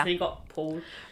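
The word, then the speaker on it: Pál: You got all these really complicated names pronounced, and you got Paul. It's like pronounced P-A-L, but then in brackets it's Paul, so I think he goes by Paul, and he was born in 1598.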